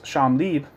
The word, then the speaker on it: Champ Libre: really important was this publishing house, Sham Lieb, which is spelled like Champ Libre if you were to try to pronounce it as just reading it straight off.